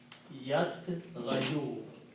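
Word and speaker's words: يطغى: So the sound of this dhamma is not pronounced. So pronunciation will become yat gha. Ya is written. So this will become yat gha, like that. Yat. This little alif is the sound of this ghain. It's called alif al-maqsura, short alif. It's not pronounced long.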